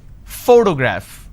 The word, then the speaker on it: photograph: pronounce this particular word photograph the correct pronunciation is photograph which means i am stressing on this particular syllable which is the first syllable please give me the